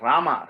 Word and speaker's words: Rama: a mere human but the very word rama ra ah ma three syllables right stands for fire